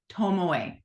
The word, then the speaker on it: Tomoe: I can't tell you unless I look at the pronunciation that I wrote out here. I'm not kidding. Well, it writes on that paper. Tomoe.